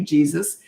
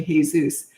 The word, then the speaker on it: Jesus: And I said phonetically, I said, "Oh, hi, it's nice to meet you, Jesus." And he goes, "Well, thank you, but it's actually Jesus."